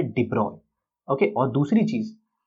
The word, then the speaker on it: de Broglie: जी हाँ, ऐसे इनके नाम की स्पेलिंग देखो तो ऐसे अलग दिखती है बट इसे प्रोनाउंस किया जाता है डिब्रॉय।